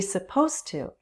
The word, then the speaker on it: supposed to: The D links with the T. You'll only hear the T very clearly.